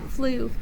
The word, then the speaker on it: flew: the word with me flu the word flu is spelled f-l-e-w spell the word with me f-l-e-w let's write it in the air f l e w e w says ooh the plane flew high